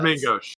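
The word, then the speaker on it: main gauche: a main and uh mine gauche what whatever the parry daggers actually pronounce it's the main ghost yeah there you go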